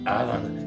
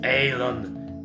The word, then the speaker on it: Alon: on me correcting them it's not alan it's alon aylon aye but that's something